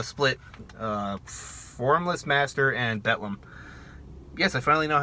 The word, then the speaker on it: Bethlehem: uh formless master and betlam yes i finally know how to pronounce the band betlam not baitlam not bethlehem whoever the [ __